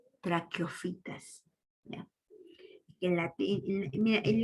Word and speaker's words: traqueofitas: Recuerda que en latín el traqueo, Q, se escribe como CH. En latín, el Q se escribe como CH. Traclec, y la PH es la F. Sí sabes, ¿verdad? Entonces, traqueofitas, se lee así. No va a decirme trachofita, ¿no? O trachopita, no. Traqueofitas.